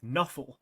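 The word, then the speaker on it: Nuffle: of bloodb is called nuff which is how they've pronounced NFL and I've often said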